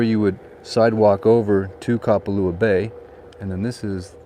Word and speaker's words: Kapalua: Now notice I'm helping you with the correct phonetic pronunciation of the word Kapalua. Just think of the word cop, like a police officer, like a cop. It's not Kapalua, it's Kapalua.